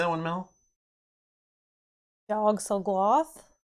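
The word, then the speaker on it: Yog-Sothoth: Yogg-Sothoth? Yogg-Sothoth.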